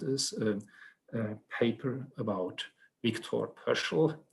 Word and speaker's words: Pöschl: a paper about Viktor Pöschl. I should probably pronounce this in a more Austrian way as Viktor Pöschl.